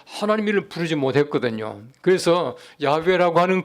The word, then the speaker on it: 야훼: 그 최근에 와서는 여호와가 아니라 가장 가까운 그 발음은 야훼다 해가지고 야훼라고 읽는 것이.